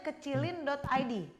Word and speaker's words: kecilin.id: Bacanya kecilin.id.